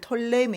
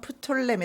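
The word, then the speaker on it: Ptolemy: 라 그리고 남쪽 이집트를 톨레미 내 혹은 프톨레미 라고 하는데 영어발음 하게 따라서 pe 를 읽으며 프톨레미 읽지 않으면 톨레미 로 읽습니다 톨레미 뭐 포털 라임이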